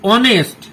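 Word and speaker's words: honest: অ্যান এ অনেস্ট ম্যান, এটা অনেস্ট একটা সৎ লোক, এটা হ উচ্চারণ হচ্ছে না।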